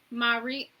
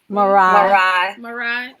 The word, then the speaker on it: Ma'ri: Marie. Marai. Okay. I've been trying to figure out how you pronounce that for like the last 2 days.